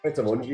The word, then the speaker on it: Pret A Manger: How do you pronounce that? Is it Pret A Manger? Pret A Manger, yeah.